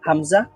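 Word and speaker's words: همزة: কোথায় কোত্থেকে উচ্চারিত হয় হামজা এটা হলকের শুরু থেকে বা এটা দুই ঠোঁট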